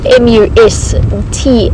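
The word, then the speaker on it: musth: life known as a must cycle and that's spelled m u s t h and pronounced must and con in the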